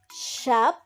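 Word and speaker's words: schaap: proceed in long ah the long sound is pronounced with two s after each other like sharp which means ship so it consists of one syllable and two ass okay let's listen and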